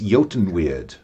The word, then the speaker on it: Eotenweard: So it's Eotenweard.